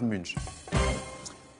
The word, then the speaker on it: Munch: donc je vais dire si pardon tâche edvard munch avec la bonne prononciation plus où elle va pour les plus